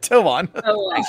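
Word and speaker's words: Tuon: Toan. As in toe.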